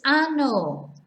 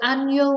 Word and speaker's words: año: don't pronounce the near remember that n without the tilde is n and with the tilde is enye and so these words we have annul so it sounds like it's a-n-y-o not anno which means something completely different so annyo means year